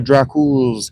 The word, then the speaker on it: Dracul: The way I play, now we go to Dracul's castle. That's actually how you pronounce Dracula. It's actually pronounced Dracul. I don't know why the A is silent.